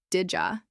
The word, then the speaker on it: did you: Did you becomes didja. These forms are not incorrect. They're simply how real people speak when they're not in a classroom or reading a script.